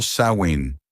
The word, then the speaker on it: Samhain: los druidas, celebraban la fiesta del Samin pronunciado Swin, literal del gaélico fin del verano, para pedir por una buena cosecha el año entrante.